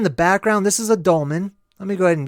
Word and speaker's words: dolmen: olam so for the longest time I was pronouncing it incorrectly but it's dolmen what are the dolmen so let's check this